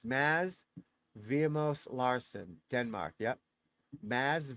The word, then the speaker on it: Mads: So you call it Maz. He's get the D is silent. So it's Maz Vimos Larsen Denmark.